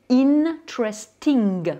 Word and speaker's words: interesting: Donc le mot intéressant, ça va devenir en anglais interesting. Vous voyez bien que là, j'ai prononcé les N.